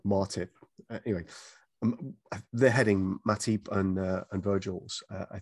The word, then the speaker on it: Matip: is that in joel matip and uh um by the way arlo alla white if you're listening it's it's matip not martip if you heard his